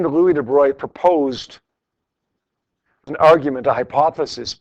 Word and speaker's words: de Broglie: between b and a a guy named Lou de Bry it's it's pronounced de Bry but it's spelled de brole good name Louis de Bry proposed an argument a hypothesis purely based on